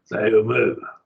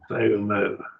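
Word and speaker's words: θεοῦ μου: Theou, mu. They would just be like you hyphenated the word. Theou, mu.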